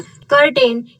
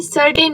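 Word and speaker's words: certain: जो ये वर्ड तुमने पढ़ा कर्टेन, ये इसे कर्टेन नहीं सर्टेन बोलते हैं.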